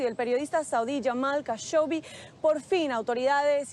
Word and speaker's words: Khashoggi: tratar el caso de Jamal Khashoggi o Khashoggi, como se pronuncia correctamente.